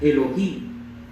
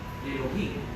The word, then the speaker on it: Elohim: Así se pronuncia, Elohim. Elohim.